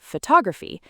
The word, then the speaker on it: photograph: Photograph stresses the first syllable photograph but photographer stresses the second photographer and photographic stresses the third photographic.